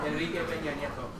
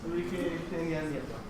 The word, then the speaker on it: Enrique Peña Nieto: Enrique Peña Nieto. Yes, good. I enjoyed your pronunciation as well. Yes, Enrique Peña Nieto.